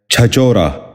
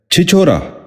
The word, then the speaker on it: چھچورا: نشین کر لیجئے، چھلوری۔ آٹھواں لفظ ہے چھچورا۔ یہ غلط تلفظ ہے، درست تلفظ ہے چھچورا۔ غور سے سنیے، چھچورا۔